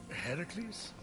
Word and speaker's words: Heracles: Heracles? Yeah, that for one, That is how it's supposed to be pronounced.